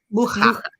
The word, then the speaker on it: Mucha: Mucha.